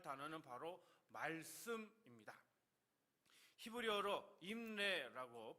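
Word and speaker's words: אמרי: 히브리어로 임레라고 발음을 하는데요, 명철이라고 하는 단어와 연결되어서 바르게 이해하고 분별하도록 이끄는 말씀이다 라고 하는 그런 의미가 담겨져 있습니다.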